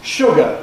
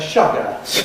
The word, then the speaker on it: sugar: Sugar is one of them. You tend to hear people saying sugar instead.